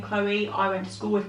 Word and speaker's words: Chloe: Quite a lot of people spell it Cleo, though, don't they? Because the L-O-E bit. The L-O-E bit, I suppose it can confuse people. Quite a few people have, spell it Chloe or read it Cleo, or it's something that